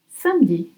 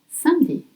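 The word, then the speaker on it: samedi: Sami. Most French will say, but it's spelled s a m e d i. Sami. Sandy. So why? Because in French we call it ellipse. We often drop the e when e is between two consonant.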